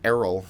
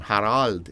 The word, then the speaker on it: Harald: GI well apparently she thought my name was Errol at first like Errol Flynn okay because Herald is not a common German name Harald is it's a different pronunciation but um we were